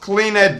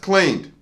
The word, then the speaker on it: cleaned: We pronounce the ed ending as a d sound, as in cleaned. Not cleaned this time, just cleaned. 1 syllable. We say the d sound straight after clean.